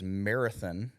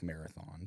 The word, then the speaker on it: Marathon: you have Alpine first uh as well as Marathon not to be confused as marathon it's spelled like Marathon but it is pronounced Marathon Texas very well